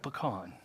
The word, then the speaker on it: pecan: couldn't bake a decent pecan pie if her life depended on it bless her heart and i said it right pecan take it one step